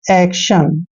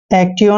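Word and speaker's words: action: मोशन next है देखिए ए सी ए का उच्चारण हम ए करते हैं और सी को हमने क पढ़ना है आधा क और टी आईओ एन का उच्चरण शन करना है एक्शन एक्टिव नहीं पढ़ना है एक्शन पढ़ना है देखिए नेक्स्ट आर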